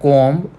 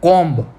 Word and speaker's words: comb: Okay, in the word comb we don't tell it as comb. Okay, we tell as comb.